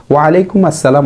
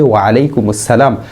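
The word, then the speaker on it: وعليكم السلام: হচ্ছে আমরা অনেকে ওয়ালাইকুম আসসালামের স্থানে ওয়ালাইকুম আসসালাম বলি ওয়ালাইকুম আসসালাম অশুদ্ধ বরং বলতে হবে ওয়ালাইকুম আসসালাম আবার অনেকে ওয়ালাইকুম স্থানে ওয়ালাইকুম হামজা দিয়ে পড়ি আইনকে হামজা দিয়ে পড়ি এটিও অশুদ্ধ কমপক্ষে এতটুকু বিশুদ্ধ উচ্চারণ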